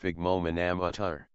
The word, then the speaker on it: sphygmomanometer: Blood pressure is measured with an instrument called a sphygmomanometer, pronounced sphygmomanometer.